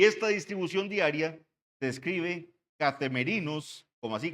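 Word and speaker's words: καθημερινῇ: en el idioma original y esta distribución diaria se escribe catem merinos como así k a t h e m e r i n o s catem merinos diaconía catem merinos diaconía Esa era la distribución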